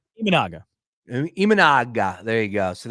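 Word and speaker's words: Imanaga: amand how do you say his last name imaga imaga there you go so this is the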